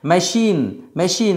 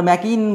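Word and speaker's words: machine: মেশিন। মেশিন আমরা ম্যাকিন বলি না। মেশিন মেশিন।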